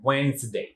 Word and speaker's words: Wednesday: এই ডেটাকে simply ওয়েডনেসডে, এখানে একটা জ সাউন্ড উচ্চারিত হয়, ওয়েডনেসডে।